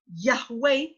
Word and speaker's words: Yahweh: to prove to you why his name as in how we pronounce it how we call out to his name is Yahweh and it cannot be anything else the verb is lega